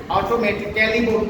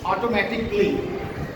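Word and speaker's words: automatically: Rule 1 এ আমরা দেখতে পাচ্ছি যদি কোনো শব্দের শেষে I C A double L Y থাকে তবে এর উচ্চারণটা সাইলেন্ট হবে। যেমন এখানে একটা শব্দ দেখতে পাচ্ছি অটোমেটিক্যালি বলি আমরা নরমালি, কিন্তু সেটার প্রপার সাউন্ডটা হবে অটোমেটিকলি।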